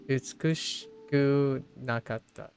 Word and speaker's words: 美しくなかった: Oh, you managed to pronounce it. Okay. 美しくなかった。美しくなかった。 Oh my gosh. Utsukushiku nakata.